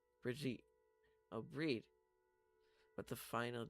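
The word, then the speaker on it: Bríd: Brid, an Irish version of the name Bridget. A famous Irish saint. It's pronounced with a long e similar to the Irish word breed. Bridget. Oh, breed.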